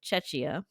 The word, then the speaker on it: Czech: I think it's just pronounced Czech. The Czech Republic. Czech. Yeah. Czech.